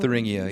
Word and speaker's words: Thuringia: Thuringia, yes, I believe that's how it's unfortunately pronounced.